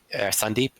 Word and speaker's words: Sandeep: Like one guy's name was like Sandeep, Sundep, but they called them Sandep because that's how it's spelled. Yes. I know Sundep and I I learned that from Adam Vision who says it correctly and I needed that